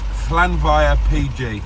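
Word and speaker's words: Llanfair PG: Oh, and if you're going to ask me to pronounce that place, then it's Flanva PG. That's what the Welsh call it.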